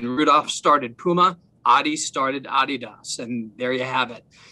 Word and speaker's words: adidas: talk to you about adidas now that's not adidas if you're listening in and you're saying that brian's saying it wrong he's not saying her wrong it's named after a guy named adi dassler his brother's name is